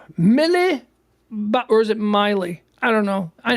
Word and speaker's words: Miley: actually Miley Cyrus or should we be saying Milly Cyrus it's Miley right that's the name that's the intended name the intended pronunciation Miley so who's this who's